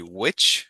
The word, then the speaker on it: which: um he was pron emphasizing the h in which I think you said which. So that would be which.